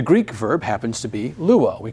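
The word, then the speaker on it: λύω: I should actually, sometimes when we're chanting them, it's easier to accent the second syllable, and so sometimes you'll hear me say luo, but really the accent is luo, lues, lue, luomen, luete, luusi.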